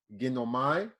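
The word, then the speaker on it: γίνομαι: Second way you can spell it is Ghinomahee as far as pronunciation.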